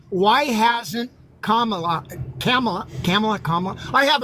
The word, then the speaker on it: Kamala: and says why hasn't Kamala camela camela Comm I have a hard time remember how to pronounce just think of the think of the punctuation comma and then love me do it this way where I know I'm